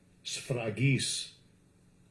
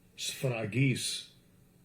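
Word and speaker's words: σφραγίς: Having the seal, the Greek word, Shrapis or Shragis. Let's see what it's Shragis. Let's let Esau pronounce it. Strong's G 4973. Sfragis. Sfragis.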